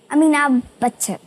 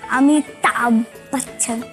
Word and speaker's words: अमिताभ बच्चन: अमीनाभ बच्चन। अमीना अमीना अमीना बच्चन बाबा अमीना बच्चन बाबा। अमीना बच्चन बाबा। क्योंकि उसको प्रोनाउंसिएशन नहीं आता ना। अमिताभ बच्चन। हां वो नहीं आता उनको।